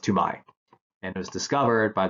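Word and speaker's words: Toumaï: basical he was actually talk about this it's pronounced to my and it was discovered by this French paleontologist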